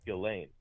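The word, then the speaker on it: Ghislaine: Because that's that's how you properly pronounce her name is Gileain.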